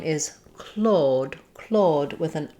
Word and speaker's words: Claude: So the name Claude in English has the ah vowel, just like in the word claw, like a cat's claw. So the past tense Claude is the same as this name Claude.